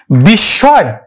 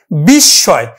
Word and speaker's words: বিস্ময়: এই যে ম ফলাটা কিন্তু চন্দ্রবিন্দু আকারে উচ্চারিত হবে, বিস্ময়।